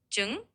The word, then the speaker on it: Trứng: So it's got a bit of a soft tr sound at the start and kind of a sound at the end. Trứng.